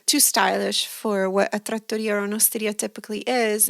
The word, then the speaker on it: trattoria: And there was a small trattoria, and it was called La Trattoria. See? And all of us called it La Trot. Sounds like a trout.